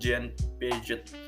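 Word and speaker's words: Jean Piaget: mau ngenalin yang namanya Zian Piaget nih Bye bacanya mungkin Jane pijet jayne Piaget ini adalah salah satu ke peneliti-peneliti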